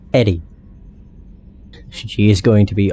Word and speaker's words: EDI: EDI is the phonetic pronunciation of EDI. That is an acronym for Enhanced Defense Intelligence. It's not Edie, it's Eddie.